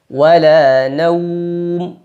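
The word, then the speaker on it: نَوْم: wau sukun sebelumnya fathah ingat pada pengucapan waulin salah satu kesalahannya adalah mengarah ke bunyi o bukan wala naum tapi wa naum sambil monyong vokalnya U W naum ini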